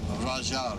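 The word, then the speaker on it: Ghajar: of the city of rajar it's spelled with a gh because in arabic gh means an r all right so this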